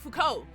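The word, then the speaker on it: Foucault: That ponopticon is a reference to uh how do you pronounce his name? Fuko.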